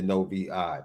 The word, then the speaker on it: Novi: I'm gonna trust Zach Martin here that is the correct pronunciation, but he phonetically put it out. No capital V and then an I, as in what you see out of, At right?